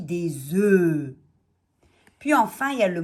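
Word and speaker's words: œufs: sont mus et quand on a un on va dire un oeuf et là on entend le f mais quand on a deux et plus à venir des on ne prononce pas le fn ont dit des oeufs puis enfin il ya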